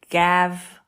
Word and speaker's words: Gav: the other words like your name gav like go glove gum any other letter other than e i or Y it's the hard G just the i e